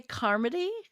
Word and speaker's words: Carmody: I would say Carmody. Bob It Carmody. is comedy. It's Like Carmody. comedy. Yeah. Carmody Okay. like comedy.